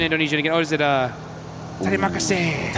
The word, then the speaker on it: Terima kasih: Oh, is it Terima kasih, right? That's it. Yeah. We were learning it whilst we were over there before. Terima kasih.